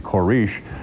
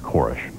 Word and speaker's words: Koresh: an ATF agent in a news conference who pronounced his name korish but he says that his last name is pronounced korish at least six people were killed in the